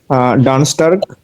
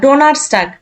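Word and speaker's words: Donnerstag: মিটবো মিডফোক মিডবুক ওকে ডান স্টার্ক না ডোনার স্টার্ক ভালো করে ডোনার স্টার্ক ডোনার স্টার্ক ওকে ফ্রাইক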